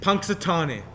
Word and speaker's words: Punxsutawney: Could you please pronounce that name? Puxtonani? Punxsutawney.